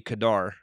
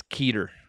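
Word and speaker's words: Kedar: ke d a r it looks like it would be Kadar but I have this uh I have this bible pronunciation guide I use and it says keer keer how I suff and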